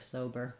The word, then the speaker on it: sober: almost no vowel there this er is the same one we have in bird or in burden or burger so we spell that er different ways e-r-i-r-u-r um you might write it as um just how it's spelled here sober not too complicated for the spelling there um but again you might find it challenging to do that r sound sober um great question thank